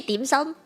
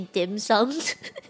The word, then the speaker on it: dim sum: Cantonese right we say dim sum yeah yeah I hate when people say dim sums yeah it's like let's